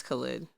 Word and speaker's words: Khaled: uz he's got Khaled is that how you pronounce it yes Khaled okay have you been saying it I don't